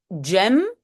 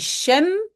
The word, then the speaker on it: jam: Yam. Aux Pays-Bas, souvent, on le prononce comme en anglais, donc on dit jam, souvent aussi shem, hein, mais bon, en Belgique, si on utilise yam, on dit yam, et très souvent, les